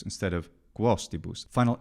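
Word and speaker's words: cum hostibus: Despite the problems that we already mentioned, the thing that really stands out to me is cumostibus instead of quostibus. Final M is not to be pronounced solidly as a consonant in front of vowels or, of course, in front of the letter H.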